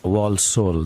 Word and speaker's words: Walsall: And on line 2, I have Julie from Walsall. That's how it's pronounced.